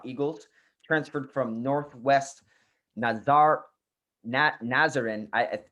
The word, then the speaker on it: Nazarene: transferred from northwest nazar nazaren is that how you pronounce it nazarin correct nazarene uh university where he was